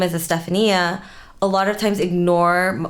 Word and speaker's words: Estefania: some way but yeah i am not stephanie i'm sorry yeah i just said a stephanie and you literally shortened my name to one last syllable two less syllables stephanie estefania well because i think